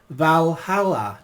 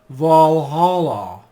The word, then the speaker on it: Valhalla: assassin's creed valhalla and that's pronounced valhalla not valhalla however the message for